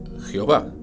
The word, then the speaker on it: Jehová: Estas vocales son la E, la O y la A, lo cual podría alegar que la pronunciación sería Jehová.